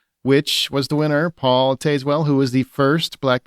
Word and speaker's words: Tazewell: Costume design, A Complete Unknown, Conclave, Gladiator 2, Nosferatu, and Wicked, which was the winner, Paul Tazewell, who was the first black man to win, as we talked about earlier.